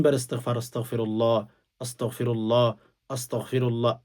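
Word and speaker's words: أستغفر الله: বসে ৩ বার ইস্তিগফার, আস্তাগফিরুল্লাহ, আস্তাগফিরুল্লাহ, আস্তাগফিরুল্লাহ, আস্তাক বলবেন, আস্তাও গইন উচ্চারণ করবেন।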